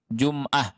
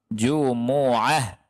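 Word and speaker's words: جمعة: al-jumu'ah al-jund moah ada sebagian orang baca ya ayyuhalladzina amanu idza nudiya lissholati meomine Jumat itu salah miau Mi jumoah bacanya gitu bukan Jumat Tapi apa jumoah Nah di surat al-jumu'ah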